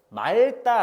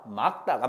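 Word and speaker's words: 맑다: 너 이거 요거 발음 또 실수하는 친구들이 많을 텐데 말다 아닙니다. 막다가 맞아요. 아 하늘이 막다라고 하는게 맞습니다.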